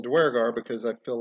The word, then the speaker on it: duergar: you might have noticed i'm pronouncing duergar as duergar uh i've done the actual research it's based on it actually means dwarves and like old norse or something uh it's like either pronounced durgar or uh durgar which is what i used to say durgar and then i started